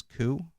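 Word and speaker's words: Køge: Now, when I say Koo Bay, it's actually spelled Koge, but they pronounce it as Koo, which is...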